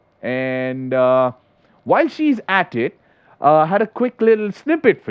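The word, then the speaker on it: ห้า: 5 be no okay in Thai the number 5 is spelt out or spoken out as ha H a so if there was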